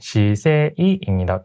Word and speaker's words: 姿勢: 여기서 좀 발음을 주의하셔야 되는 게 시세이입니다.